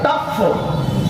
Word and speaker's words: طف: کے کنارے وادی تف, بعض تلفظ کے یہ ہے, فا پر تشدید ہے اور طا پر زبر ہے, تف.